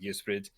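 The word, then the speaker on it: Ysbryd: uh but we uh as far as our pronunciation goes uh we go with yusrid um and it is a welsh word that means spirit because our games have soul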